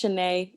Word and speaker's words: Shanae: um well yeah and my name is pronounced shanae there's the accent mark above the eve but my question was